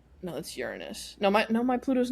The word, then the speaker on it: Uranus: So, yeah, we do Uranus next. I love the way you say that cuz that is the correct pronunciation.